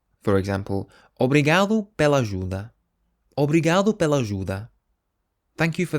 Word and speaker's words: obrigado: The phrase thank you in Portuguese is obrigado. Obrigado. But if you're a female, you would say instead obrigada. Obrigada. So you change the O to an A. For example, obrigado pela ajuda. Obrigado pela ajuda.